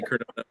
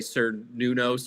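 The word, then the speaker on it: Cernunnos: Ironically, she pronounced Kernonos wrong. I heard that while I was watching the movie. They're trying to say Kernonos, and they say Sir Nunos or something like that. And I was like, how did she pronounce it? I thought of you immediately, Jason, when she said it. I was like, oh my goodness. Jason's gonna be all over that. It was not with the hard C.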